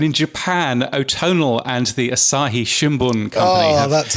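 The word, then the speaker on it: Asahi Shimbun: wish you had done this bit the the asai shimun company have jointly released a survey I tell you what yes let's go around the world and in Japan otonal and the Asahi Shimon company oh that's how you say it is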